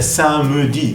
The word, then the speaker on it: samedi: Samedi, literalmente sería samedi, ¿no? Pero como se pronuncia, corridos esa S se omite en cierta manera. Samedi.